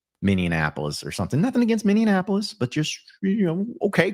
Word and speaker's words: Minneapolis: Minneapolis. Minneapolis. Apparently, you threw an extra in minapolis. Minianapolis.